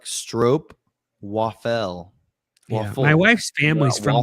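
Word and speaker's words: stroopwafel: Yeah, it rhymes with rope. Yeah, baseball saw. I thought it was Yeah, it's actually like stro waffel waffle.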